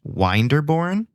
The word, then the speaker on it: Winderbourne: But through my research, I have my suspicions that it is actually supposed to be pronounced Winderbourne, even though that doesn't really quite roll off the tongue or make any phonetical sense whatsoever.